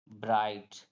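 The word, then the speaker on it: bright: जी एच टी तो बी आर आई जी एच टी में जी HT last में आ रहा तो जी एच यहां पर साइलेंट हो जाएगा तो इसे पढ़ेंगे ब्राइट क्या पढ़ेंगे ब्राइट पढ़ेंगे तो यह था हमारा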